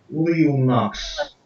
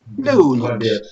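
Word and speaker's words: leunaks: Лапсит, Тулит, Колест, Лиунакс. Леунакс. Леунакс. Ударение на «э».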